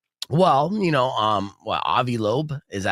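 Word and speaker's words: Loeb: Well, you know, um what a lobe, is that how you say his name?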